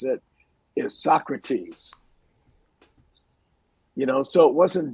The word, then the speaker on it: Socrates: this is just a very beginning he was pronouncing Socrates as Socrates because he had never seen the word before